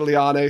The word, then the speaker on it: Leane: We could say Jennifer said Liane, so that's how it's said now.